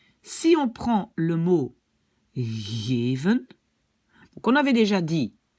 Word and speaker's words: geven: Donc, si on prononce ce mot en Flandre, ça va être geven. Geven. D'accord? Alors que aux Pays-Bas, ça va plutôt être geven, geven, geven.